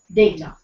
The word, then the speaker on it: data: Data or data? Well, the correct pronunciation is data.